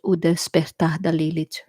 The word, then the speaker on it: O Despertar da Lilith: You pronounce it o Despertar da Lilith. Okay, that's Portuguese from Brazil.